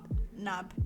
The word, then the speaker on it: Naab: how did you say your last name nab nab yeah even like my name's moving on mom